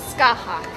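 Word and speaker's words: Scáthach: But her name is Skahak. It's spelled like Skathak.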